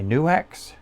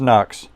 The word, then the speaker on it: NUX: I really like my NUX, not pronounced Nux, NUX. There's like a dash there.